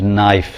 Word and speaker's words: knife: letters, like why is knife spelt K-N-I-F-E? Well, that's not hard to understand. At one time it was pronounced knif.